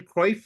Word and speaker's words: Cruyff: Dutch superstar Johan Billy, how do you pronounce his last name? Cruyff? Johan Cruyff.